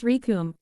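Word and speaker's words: Recoome: The name's Rikum. It rhymes with doom.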